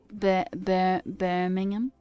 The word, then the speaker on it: Birmingham: Birmingham. Did I say it right? Birmingham.